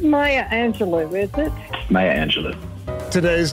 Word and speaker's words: Angelou: celebrity is Maya Angelo I didn't even say it right Maya Angelo I've been saying Angelou my whole life and it's actually Angelo love you I love you back